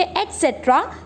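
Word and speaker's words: et cetera: बच्चों ETC डॉट लिखेंगे लेकिन पढ़ेंगे एटसेट्रा, स्पेलिंग आपके सामने है।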